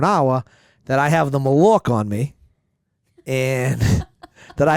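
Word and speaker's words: malocchio: me how you would pronounce it okay okay Ma l o c h i o spell it again m a l o c h IO Malik really Malo malio yeah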